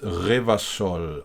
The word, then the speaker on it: Revachol: Revachol is pronounced Revachol.